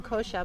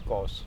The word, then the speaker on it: kosha: N and I'm saying kosher but the correct pronunciation is course of course because you don't pronounce the last a we're just learning this